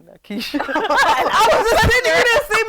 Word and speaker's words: Nikkisha: It's not Nikkisha. It's Nikkisha. So, Picky. oh my God. I mean, I don't make a big deal I'm out pretty of sure it. that I say Nikkisha.